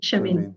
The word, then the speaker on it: Shermine: Shermine.